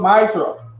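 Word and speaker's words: מעשר: Means tenth in the Hebrew and is pronounced ma'asra.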